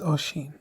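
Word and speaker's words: Oisín: Steve, my name is Oshin. Think about the ocean, right? Ocean. We all know the ocean.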